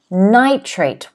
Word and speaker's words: nitrate: next word is nitrate nitrate once again the apostrophe is before the first syllable which means we stress